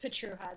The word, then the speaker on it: Pietrucha: Yeah, it's Pietrucha. The C is silent, but that's okay.